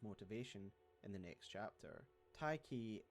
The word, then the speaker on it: Tyche: Tyche is a letter-swapped spelling of an ancient Greek word that represents the Greek deity of fortune, which is why I'm pronouncing it that way, by the way.